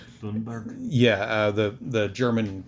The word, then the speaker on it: Thunberg: There were days where Tate's name spiked, such as when Greta Thunberg, I'm never going to say her name, right? I think it's actually Tunberg. Tunberg.